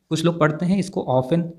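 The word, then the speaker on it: often: frequency है अक्सर को ऑफेन कहते हैं ऑप्शन में t1 टी लेटर साइलेंट है ऑप्शन कहा जाता है तो सबसे पहले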